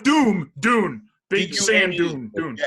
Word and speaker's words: Dune: Doom, right? The video game Doom. Not Doom. Dune.